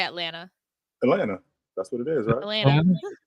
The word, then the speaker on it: Atlanta: it weird I think I don't pronounce the T I don't say Atlanta I say Atlanta Atlanta that's what it